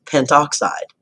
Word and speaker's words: pentoxide: compound is named diphosphorus pentoxide notice that the a vow sound at the end of pinto was dropped just so it sounded a little bit more fluid U I won't worry